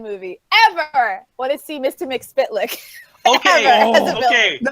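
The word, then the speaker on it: Mxyzptlk: Mr. McSpitlick. No, in Superman the animated series, it's Spitlick. That's how you say it.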